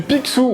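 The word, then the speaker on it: Pixoo: vous souvenez peut-être du Picsou oui ça se prononce comme ça ce petit cadre à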